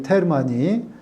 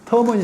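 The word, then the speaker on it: Terman: 테르마는 지금 제가 독일식으로 발음을 했는데 미국 식으로 발음하면 터먼이 되겠습니다.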